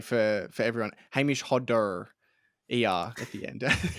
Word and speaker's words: Hodder: or I should say for for everyone Hamish Hodder ER at the end it's not a Hamish Honda although that's yeah that's the Australian pronunciation um